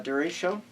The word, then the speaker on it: derecho: Many of you pronounce it many different ways, but derecho.